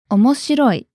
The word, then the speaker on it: omoshiroi: adjective tomuki how do you say interesting it's omoshiroi interesting okay can you guide us through the